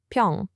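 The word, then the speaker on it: 平: And next up we have pyeong, which is pronounced pyong.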